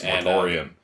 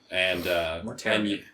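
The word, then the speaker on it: Mortarion: Yes, Mortorian. Mortarian. Thank you. Mortarian, right? Mortarian. I've been saying it wrong this whole time.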